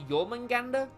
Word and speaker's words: Jormungandr: That's been themed to Jormungandr.